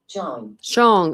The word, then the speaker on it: Zhang: So neighbor Eddie Zhang, that's how you say it. Let's see. Shong. Oh, I was so close.